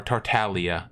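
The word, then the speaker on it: Tartaglia: ooh she hits hard on her own or tartalia the correct pronunciation he bops with the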